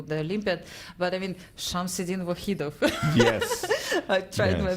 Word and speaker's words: Shamsiddin: I was ready to go to the game between Lanier and I'm going to mispronounce his name, so excuse me. Shamsiddin. Shamsiddin, yes.